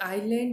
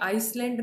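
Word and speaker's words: island: Next है, Jamaica is dash आइलैंड in dash Caribbean सी। अब आपको पता है आइलैंड, एस इसका साइलेंट रहता है बेटे, प्रोनाउंसिएशन आपकी आइसलैंड नहीं आइलैंड होगी।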